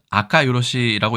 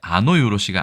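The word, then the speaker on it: あかよろし: 그래서 이거는 아카 요로시라고 읽는데 아노 요로시가 아닌 점이 일단은 주의를 해야 되고요.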